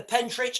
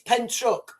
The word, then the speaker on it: Pentrich: Sean, a few days back, you completely dismissed the Pentrich incident. You butchered the pronunciation. It's Pentruck. Yes, I did.